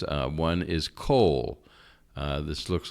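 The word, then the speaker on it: כל: pronunciations uh one is coal uh this looks like it should be pronounced call uh but it's this is a kamat Katan it's an O vowel rather than an a vowel all right again you're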